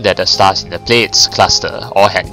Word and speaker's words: Pleiades: Pleiades is how she pronounced it, so Pleiades.